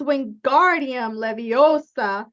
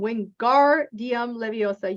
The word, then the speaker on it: Wingardium Leviosa: And in this case, they learn Wingardium Leviosa, right? It's Wingardium Leviosa. Make the gar nice and long. Wingardium Leviosa.